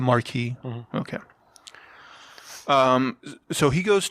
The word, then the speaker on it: Marquis: this Frenchman called the the Marquis is that how you pronounce it now is that his title or is that his actual name no it's the title he's the Marquee okay um so he